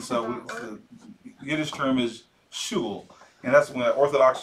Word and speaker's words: shul: Does anybody know what a shul is? No, everybody know how the you shul? Spell that?